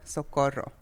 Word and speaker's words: Socorro: Okay, everybody calls me Coco because that is short for Socorro. Okay, Socorro. Socorro is a very hard name to pronounce. So you got to roll the R's.